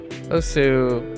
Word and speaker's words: osu: Formally, it's a contentious point, but formally when you start up this wonderful little application or game, the pronunciation is Os, and Os also flows very well with my last year worth of Japanese exposure.